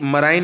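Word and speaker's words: marine: एक मराइन national park, मराइन सी से related है, ओशियान से रिलेटेड है ना। मराइन वर्ड इसी के लिए आता है, इसे आप मरीन भी प्रोनाउंसिएट कर सकते हो।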